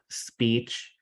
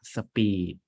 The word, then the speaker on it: speech: dropped this is accent but the pronunciation is that you have to keep the distinction between speech and speed right so if you pronounce the speech word as speed it is a wrong pronunciation because of speech and